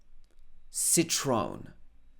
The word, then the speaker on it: Citroën: Citroën, Citroën. Again, not correct by French standards, but that's how we say it.